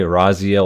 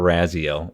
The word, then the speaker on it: Raziel: Oh, you can say Raziel or Raziel. Either one works.